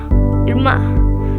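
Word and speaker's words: irmã: Irma. Listen to the end sound. Ma.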